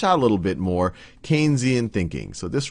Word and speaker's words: Keynesian: more one that's more Keynesian. And some of what we've talked about, or Keynesian, I should say, I already did my first mispronunciation, one that's a little bit more Keynesian.